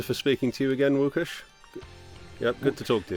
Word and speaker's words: Łukasz: You're one of the very few people that can pronounce my name very well. It's like most of the people just go with Lucas, so thank you so much for that.